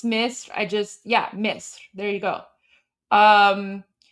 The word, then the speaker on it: Misr: Like I know it's Misr. Misr. There you go. And then I don't know how okay, is it Masr?